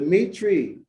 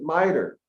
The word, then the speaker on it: mitre: The mitri that the Pope wears, the Catholics pronounce it mitre, but it is a mitri. That Hebrew Israelite organization pronounces mitre as mitri. They're the same.